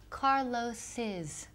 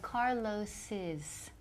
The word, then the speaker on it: Carlos's: Pero la pronunciación es Carlos's. Hay que poner otra sílaba. Okay, so Carlos's.